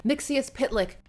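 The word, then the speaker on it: Mxyzptlk: It's Mix. Yes. Spit. Lick.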